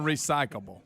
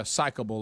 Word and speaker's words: recyclable: You're saying recyclable. Yeah, psychable, like psych.